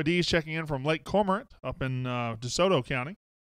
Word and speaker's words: Cormorant: Joy D's checking in from Lake Cormorant up in DeSoto County. I even said it right, didn't I? Lake Cormorant. Some people want to say Lake Cormorant or Lake Cormorant. That's not it.